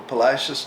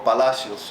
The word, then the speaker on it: Palacios: are you from Edward Garcia Jr I'm from Palacios Texas or Palacios you can pronounced all right and I understand you well